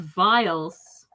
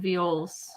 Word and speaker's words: viol: You said vials rather than viols.